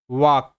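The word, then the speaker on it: walk: এই শব্দের উচ্চারণটা হবে ওয়াক। ওয়াক। এখানে একটা বিষয় বোঝার আছে সেটা হলো এল কিন্তু এখানে সাইলেন্ট।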